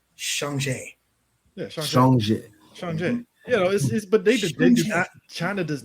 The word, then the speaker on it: Shanghai: weeb about it but i am going to go with the proper pronunciation thanks to thanks to home and thanks to this chinese girl with braids that uh that did it priced she or she taught the the proper pronunciation of the movie and that is shanghai yeah china does not